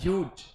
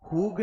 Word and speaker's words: huge: दिया है called as ह्यूज। अरे बैठो ना, तुम इतने खड़े क्यों हुए हो? The word is called as, सुनो स्पेलिंग लिखो, HUGE। इसको हुग नहीं बोलेंगे, हुगे नहीं बोलेंगे, इसे बोलेंगे हम ह्यूज, ठीक है।